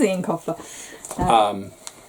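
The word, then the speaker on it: Eoin Colfer: However you pronounce his name. It is Ian Colfer.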